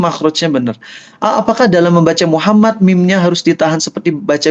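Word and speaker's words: محمد: Asal M-nya double aja. Muhammad, Muhammad, Muhammad. Tapi nggak perlu jadi Muhammad. Itu nggak perlu. Nggak perlu. Ya, yang penting M-nya double.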